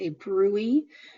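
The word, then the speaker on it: bruit: include signs and symptoms like a Brey which maybe not isn't how you would pronounce that word just to look at it so it is pronounced a Brey um when you are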